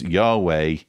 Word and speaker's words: Yahweh: Scholars say God is pronounced as Yahweh.